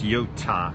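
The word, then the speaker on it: Yiota: Lance on the name the I is silent it's not y-i-o-t-a essentially it's Yota like Yoda with the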